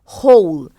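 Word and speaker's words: whole: really laugh laugh laugh होल होल होल होल मतलब पूरा होल वाला एओ एल होल मतलब छेद नहीं होल मतलब यहां पे पूरा डब्लू एओ जहां डब्लू साइलेंट है रिप्ला रिप्ला रिप्ला क्राइड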